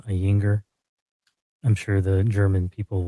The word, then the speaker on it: Ayinger: it wrong but it's a y i n g e r so ainger I'm sure the German